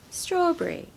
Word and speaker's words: strawberry: strawberry of course but what you will hear is people saying strawberry Brie like the cheese the French cheese Brie that seems to be the sound that you hear instead of berry on the end of any fruit that ends with berry raspberry blueberry blackberry okay so we stress the first syllable straw straw Brie strawberry now in Britain strawberries